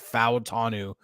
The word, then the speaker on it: Fou Tanu: Steel King says, Fou Tanu in Pacific Islander culture, pronounce all the vowels.